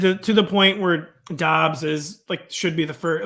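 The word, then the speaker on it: Doubs: I say Dobbs. It's Dobbs.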